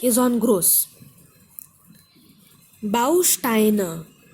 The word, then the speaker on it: Bausteine: Bausteine, Bausteine. There are three syllables, stress is on Bau, Bausteine.